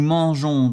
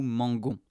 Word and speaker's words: mangeons: Ici, avec le verbe manger, nous mangeons, nous devons rajouter un e pour éviter d'affecter la prononciation. S'il n'y a pas le e, on dit nous mangons. Et ce n'est pas correct.